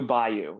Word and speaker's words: Bayou: pronounced like that? Blue Bayou? Blue Bayou.